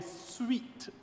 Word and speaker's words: suite: We have included this measure because it is part of a suite of measures and I use the word I know is spelled s ui t e but the measures are suite sWT.